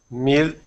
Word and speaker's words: meal: listen listen and learn try saying Mill one more time meil I'm still hearing Neil say this meal and meal so do you see how you're saying them in the exact same way but they have to sound different but is it not